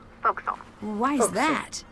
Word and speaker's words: forecastle: ship, but it's pronounced forecastle. Why is Forecastle. that? Try pronouncing it like an English sailor with no formal education.